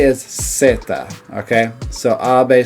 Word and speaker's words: zeta: And the way they say it is Zeta. Okay. So, Abe say it's Zeta. I'll make sure I put that right up there. Zeta. Zeta. Not Zeta, but Zeta. Okay. So the letter Z is Zeta, alright?